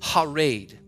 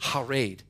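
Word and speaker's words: חרד: it is the word, it's pronounced harad, harad. It is C-H-A-R-E-D. It is pronounced harad.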